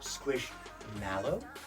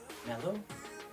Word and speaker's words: Squishmallow: Also, I was today years old when I realized it's Squishmallow and not mellow. I've been saying it wrong this entire time.